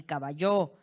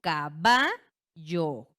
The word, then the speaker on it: caballo: Yo no pronuncio esta palabra como caballo, ¿verdad? ni caballó, yo digo caballo. Caballo. Y notamos entonces que la sílaba tónica recae en va, ¿vale?